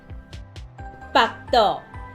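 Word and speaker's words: 腹肚: 腹肚，腹肚，即个发音爱特别注意，伊甲北平的北是同款的发音。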